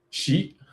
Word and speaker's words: Xi: Did I pronounce the name correctly? Is it Chi sheet?